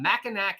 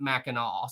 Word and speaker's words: Mackinac: go we're here on mackinac island because it's spelled mackinac even though you pronounce it mackinaw so i can i